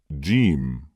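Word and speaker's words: ج: Jim. How to pronounce the letters with short vowels, fatah, kasra, and damma.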